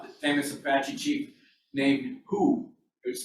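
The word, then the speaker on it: Juh: famous apache chief named who is spelled j-u-h pronounced who he was a famous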